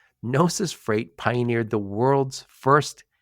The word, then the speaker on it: Gnosis: officer at nois Freight by the way nois is spelled GN o s i nosis Freight pioneered the world's